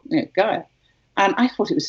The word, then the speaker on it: Gaia: When, just a little anecdote, when Angelo Gaja had his daughter, he called her Gaja, spelt with an I instead of a J, but still, Gaja.